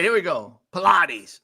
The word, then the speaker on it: Pilates: I'm ready all right here we go Pilates not you said it right every time